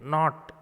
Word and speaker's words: knot: K is silent here, not. Though K is present here in this word, we won't pronounce K. Knot, it is not. It is not only, not. NOT, not. We pronounce it as NOT. But actual spelling is KNOT, Guntu.